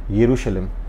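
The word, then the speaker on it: ירושלים: introduce today is called o Jerusalem or as pronounced in Hebrew yerushalim I personally prefer the Hebrew pronunciation so I'll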